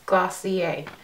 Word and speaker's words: Glossier: website just to see how the brand is pronounced and it is glossier so once I've primed